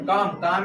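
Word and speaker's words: calm: है इसके बाद क्या सी एल ए एम कॉम इसका होता है हमारा सैम क्या होता है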